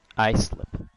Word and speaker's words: Islip: Islip.